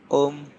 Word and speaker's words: Ohm: Ini dibacanya Om.